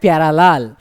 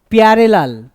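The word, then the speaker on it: parallel: আমাদের উচ্চারণ হয়ে যাবে প্যারালাল না সরি প্যারেলাল না কি হবে প্যারালাল হ্যা একদম প্যারালালটাই ঠিক প্যারালাল কিন্তু নয় সঠিক নয়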